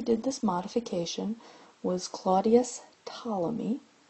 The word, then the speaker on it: Ptolemy: And the person who did this modification was Claudius Ptolemy. The P is silent.